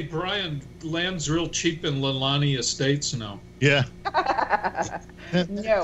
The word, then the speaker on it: Leilani: Leilani.